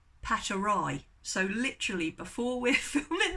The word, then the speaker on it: paterae: Is it paterae? I said, I keep saying paterae. She said, right, if they're on their own, paterae. If you get a bunch of them, paterae.